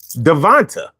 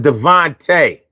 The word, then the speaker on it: Devontae: goes left when he pronounces names like Devonta instead of Devontae.